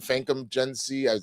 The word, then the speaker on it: Famke Janssen: Famke Janssen.